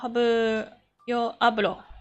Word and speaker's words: hablo: Yo hablo. I need to stop pronouncing H. Hablo.